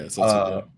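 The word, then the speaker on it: 節子: Yeah, Setsuko.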